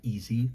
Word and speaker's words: Ezze: I have been streaming on Easy. It's spelled E-Z-Z-E.